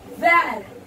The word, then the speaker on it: vert: Green we pronounce, green say Vert.